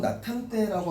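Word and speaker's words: 낮 한때: 여기 보면 우선은 낫 이렇게 되겠죠. 음절의 지읒은 받침으로 발음될 수 없으니까. 그 다음에 한때 이렇게 되는 거니까 얘가 어떻게 돼? 디귿하고 히읗이 음절의 끝소리 그 다음에 축약 이렇게 되는 거죠.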